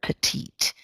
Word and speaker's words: petite: she's a petite woman it's a French word petite and pronounced in kind of a French way okay so let's look